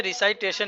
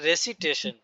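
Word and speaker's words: recitation: जो है ना रिसाइट ये जो है रिसाइटेशन नहीं ये है रेसिटेशन जो इसका वर्ब होता है वो होता है रिसाइट और जो नाउन होता है वो होता है रेसिटेशन जी चलिए रेसिटेशन ऑफ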